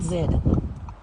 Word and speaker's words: zed: there okay what about Zed you you a zoo you would say Z it's zed zed yeah the letter Z is pronounced Zed okay I'll I'll defer